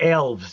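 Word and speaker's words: Aelves: i mean i know is that really how you say it or we just haven't no people just say elves sometimes i'll say elves because i'm just being facetious but yeah a-e-l-v earlier and i wanted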